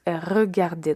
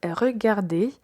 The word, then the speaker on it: regarder: Le verbe regarder n'a pas d'accent sur la lettre E. Donc on va dire re, pas regarde ou quelque chose comme ça.